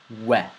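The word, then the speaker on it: و: We. We. We. It is similar to the letter W in the English language, but not similar to the letter V.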